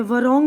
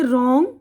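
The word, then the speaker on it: wrong: अब यहां पर देखिए डब्लू की आवाज साइलेंट है तो देखिए यह रंग है वरंग नहीं पढ़ेंगे रंग इसी तरह आंसर जवाब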